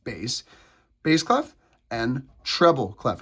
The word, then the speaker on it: bass: It looks like bass but it's pronounced bass.